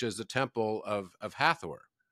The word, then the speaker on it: Hathor: of dendera which is the Temple of of hathor right hatur as it's pronounced if you look at the exact same